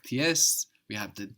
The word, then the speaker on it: Z: We've already seen how the Z in German is pronounced ts, ts.